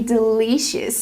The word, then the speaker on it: delicious: pronounce the word delicious we cannot use the long e sound like green beans we use the short I sound like this is again Del it's more open I Del the second vowel delicious not delicious but delicious it's important because this is a stressed syllable it's important to pronounce it correctly delicious example the food